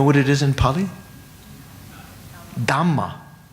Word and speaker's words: dhamma: change the tongue from dharma, to change from that. It's more easy when you're speaking quickly, colloquially, to say dhamma, the same syllable twice.